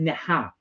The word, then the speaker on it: Neha: You know when cowboys go yeehaw, I keep saying neehaw like that. So it's Neha.